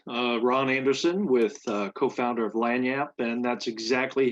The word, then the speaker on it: Langniappe: Ron Anderson with co-founder of Langniappe, and that's exactly how you pronounce the name of our company, Langniappe.